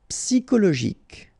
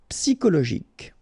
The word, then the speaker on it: psychologique: Normally we should pronounce it CHO, okay, but in that case we pronounce it CO. Psychologique. Remember, final Q-U-E like that. K. Psychologique.